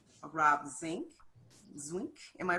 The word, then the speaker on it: Zwinck: Robin sink am i pronouncing it incorrectly you got it yes wink